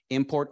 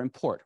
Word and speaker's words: import: So the nouns have the stress on the first syllable and the verbs on the second syllable.